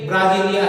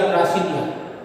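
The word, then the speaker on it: Brasília: पर लिखा है, इसके देश की राजधानी भी है ब्राजीलिया, ब्रासीलिया। क्या स्पेलिंग है देखो, ब्रासीलिया, ब्राजीलिया भी कहते हैं, ब्रासीलिया भी कहते हैं।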